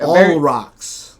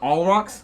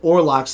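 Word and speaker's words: Olrox: So moving into one of the other characters, Orlox, who is the All rocks. Is it All Rocks? It is all rocks, and I only know that because I've always pronounced it Orlox and never gone back and looked it up.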